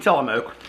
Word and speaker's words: Tillamook: grilled cheeses all right which I'm probably horribly mispronouncing telemoke and I know it's